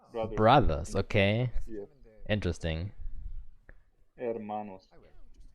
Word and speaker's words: Hermanos: Hermanos. You don't pronounce the H, by the way.